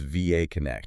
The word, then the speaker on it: VAConnect: And that's pronounced VAConnect.